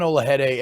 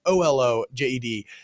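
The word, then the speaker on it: Olojede: I thought that Zion Olajede, and I apologize, I'm pronouncing his last name wrong. I'm sure it could be Olajede. It's Olojed.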